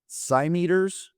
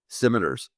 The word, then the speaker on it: scimitar: Yea, they did arm themselves with swords and with scimeters. Is that how you say that? Scimitars. Scimiters. See, I'm reading this. I've read it scimeters my whole life.